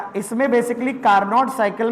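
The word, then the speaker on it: Carnot: ये हमारी कार्नोट cycle बनती, चारों प्रोसेस मिल करके एक कार्नोट साइकिल बनती। मतलब कार्नो बोलते हैं वैसे तो, कार्नो टी साइलेंट रहता है, पर मेरे मुंह से तो कार्नोट ही निकलता है।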